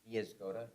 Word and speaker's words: Niezgoda: Niezgoda.